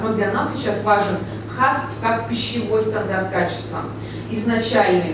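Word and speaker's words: HACCP: ХАСП. Здесь? ХАСП. ХАСП. Да? Все верно. То есть произносим мы его по английской, в английской транскрипции. Это понятно, да? ХАСП.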